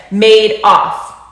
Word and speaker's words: Madoff: to pronounce it and he said made off like he made off with the people's money if i named a